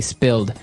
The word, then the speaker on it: spilled: so I spilled some milk. Okay, spilled. Now, it's pronounced differently from spell, right? That's right, It has spill. an I, spilled.